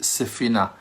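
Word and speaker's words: ספינה: When we're mentioning the name Sfina, that is a ship, we're calling it Sefina. Sefina sounds like the word safun.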